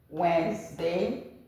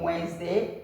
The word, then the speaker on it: Wednesday: Sunday, Monday, Tuesday, Wednesday, Thursday, Friday, Saturday. The D in Wednesday is silent.